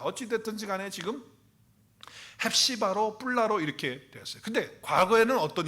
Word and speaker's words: 쁄라: 단어가 합쳐서 된다는데, 그리고 뿔라도 베올라라고 이렇게 하는 것이 사실은 더 합당할 수 있겠어요. 자, 어찌 됐든지 간에 지금 헵시바로 뿔라로 이렇게 되었어요.